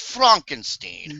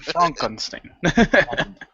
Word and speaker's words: Frankenstein: It's pronounced Frankenstein. Frankenstein.